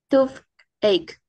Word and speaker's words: toothache: Toothache. That's the one, toothache. So always Toothache. that is ending in this, we say k, not ch, okay?